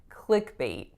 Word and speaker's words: clickbait: clickbait click B again notice that the way I'm saying it right now I'm not releasing that final T it wouldn't be wrong to do so but it's not necessary so a lot of native English speakers from North America are just not gonna release that T our next word is